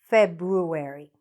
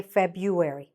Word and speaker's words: February: For now, what I'll do, so we don't stop every time on the second one, I'll just say February. Okay? But you know that you could also say February.